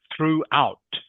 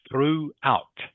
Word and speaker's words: throughout: Throughout. Through out. Through out. Good. Through out. I know the spelling here a little bit confusing but it is pronounced through.